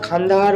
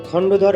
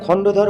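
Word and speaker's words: খণ্ডধর: উচ্চারণটা খান্দাহার ওয়াটারফল হবে না। হবে খন্ডধর ওয়াটারফল। বারবার ভুল উচ্চারণের জন্য আমি ক্ষমাপ্রার্থী। আবারো বলছি উচ্চারণটা হবে খন্ডধর ওয়াটারফল।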